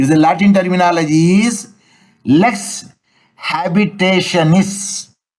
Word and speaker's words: lex habitationis: It is the Latin terminology is lex habitationis. Spelling LES lex space HABITATIONIS.